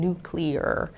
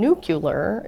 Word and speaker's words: nuclear: they say nuclear to make sure they're saying nuclear. But those words actually irregardless has a really long history. It's over 200 years old, and it's appeared in print all over the English-speaking world. And the pronunciation nucular is actually, though we think that we say